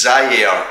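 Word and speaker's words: Zyair: So it's Zaire, and Zaire's how you pronounce it, and we just love his name.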